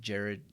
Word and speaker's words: Girard: live stream with with Jerrod cousins it's spelled Girard but it's pronounced Jerrod the guy has congenital